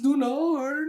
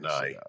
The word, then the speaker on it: Ny: Now, it's spelled NY, so try not to trip up on that. I think it's not nigh or knee.